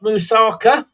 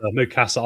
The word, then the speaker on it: Mukasa: Yeah, we've got Musaka. Um, is it mous? I don't know how to pronounce mukasa. I keep saying it wrong.